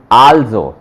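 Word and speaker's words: also: आल्जो। ठीक है, ये आ एल जोड़ गया इसके अंदर, आल जो, जो यहां पे पढ़ा था सेम वही आल्जो, चेंज नहीं होगा वो।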